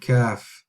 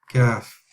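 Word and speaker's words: ك: Kaf, Kaf. All right. So it's exactly the same as cat or cake. It's a little bit of air passes through as well. Kaf.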